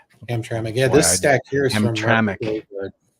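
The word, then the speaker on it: Hamtramck: uh graveyard so this is how do you pronounce that ham Hamra ham tram yeah this stack here is so um hamic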